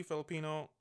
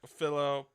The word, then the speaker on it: Philippou: Directed by Danny Filipino. Not Filipino. Wow. Danny Philippou.